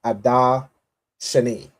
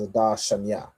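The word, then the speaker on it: אדר שני: an intercalary month called Adar Shani, right? Or we would pronounce this as Adar Shanya, right? Or Viadar right here. So I put two references. There's two ways to say it, right?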